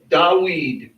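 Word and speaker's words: דוד: This name is pronounced Dawid. That's how it's pronounced in Hebrew.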